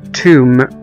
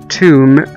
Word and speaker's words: tomb: وزي كمان كلمة توم، T O M B، توم، توم أو قبر، طبعا هنا ما نطقناش حرف البي.